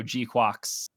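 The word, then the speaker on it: GQuuuuuuX: watching the new show, G-Quox. I'm a couple episodes behind as of this recording, but is that how it's pronounced? Pretty good. I believe that's how it's pronounced. Like quacks with a U.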